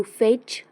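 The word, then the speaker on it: fetch: seated seating बसविने टू फेच फेड्ड फेस्ट फेचिंग T silent ओढ़ने खालून वर ओढ़त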